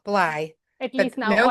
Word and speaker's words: Bley: It's Bly. Think of it Wow. like your eyeball, Bly.